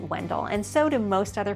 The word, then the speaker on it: Wendell: However, the locals pronounce it a little bit differently. I pronounce it Wendell, and so do most other people that I encounter.